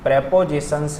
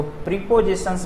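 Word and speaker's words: prepositions: Type number 5, जिस तरह से मैंने 5 वर्ड का आपको स्टॉक दिया, उसी तरह से कुछ प्रेपोजिशंस हैं, इसको प्रीपोजिशंस नहीं पढ़ के प्रेपोजिशंस करेक्ट प्रोनाउंसिएशन होता है, ठीक है।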